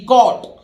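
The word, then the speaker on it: caught: form है अब देखिए सी ए यू जीी एचटी कोट ठीक है यहां भी जी एच साइलेंट है ये कैच की है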